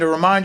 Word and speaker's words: remind: in just came in remind you inine then we have up down shape of stress on mine in m and again that is a stressed syllable the first syllable unstressed remind remind probably I would write